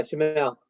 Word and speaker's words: Shamel: So and it's pronounced, I want to say correctly, Shomail. Yeah, Shamel. Yep, perfect.